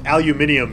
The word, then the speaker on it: aluminum: Well, I pronounce aluminum like an American because I'm from America and I spell it like I pronounce it because I'm from America. But I understand that aluminium is a perfectly fine way to pronounce it and is the correct pronunciation if you speak a different regional dialect than I do.